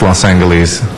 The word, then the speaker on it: Los Angeles: okay los angeles arena and that's pronounced los angeles thank you all right